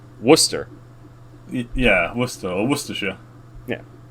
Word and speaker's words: Worcester: what i'm saying like it's spelled like warcester and we pronounce it worcester yeah worcester or worcestershire